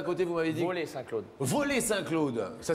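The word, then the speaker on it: Vaux-lès-Saint-Claude: Voler Saint-Claude. Voler Saint-Claude. Ça s'écrit?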